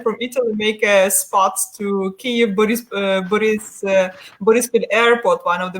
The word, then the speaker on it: Kyiv: So if you come to Kyiv, which is correctly being pronounced as our capital, it's about up to 5 million people who are living there.